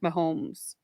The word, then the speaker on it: Mahomes: were talking about kinematic movers like um Patrick Mahomes did I say his name right yes yes